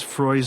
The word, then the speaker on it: Frey: the significance of Miss Frey's name will be although as she says it does rhyme with joy not with Freud this is so wonderfully